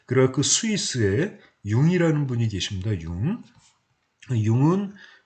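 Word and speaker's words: Jung: 그래서 마찬가지로 이분도 쓰기는 이렇게 쓰지만 이름은 융이라고 읽는다. 칼 구스타프 융, 이렇게 여러분이 보시면 되겠습니다.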